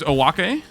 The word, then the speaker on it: Owake: All right, here's Owake. That is how you pronounce his name. It is not oak.